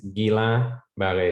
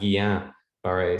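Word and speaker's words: Guillain-Barré: showed us spontaneously that the pronunciation is gila valley syndrome and not guillain-barre syndrome which i have been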